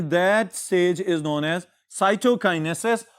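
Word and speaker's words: cytokinesis: Stage is known as साइटोकाइनेसिस, और इसको कुछ किताबों में या इसी तरह अगर प्रोनाउंस किया जाए तो साइटोकिनेसिस भी कहा जाता है।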